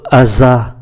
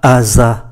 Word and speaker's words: hasard: Như vậy chúng ta để ý chữ hasard, chữ H này là H aspiré, chúng ta không có đọc nối và phải đọc là le hasard, par hasard.